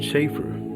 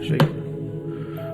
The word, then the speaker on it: chafer: definition chaer chafer okay chaffer so it's chaffer not chaer all right or silver